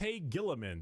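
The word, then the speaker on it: Roboute Guilliman: Rabute Gilliman.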